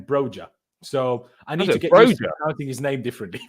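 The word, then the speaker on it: Broja: and Cowell earlier and Brer in that video pronounced his own name broer so I need to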